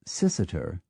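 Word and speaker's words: Cirencester: always pronounced as spelled the same Fate has befallen c i n c s e r which once was sisiter but now is usually just siren sester g r an t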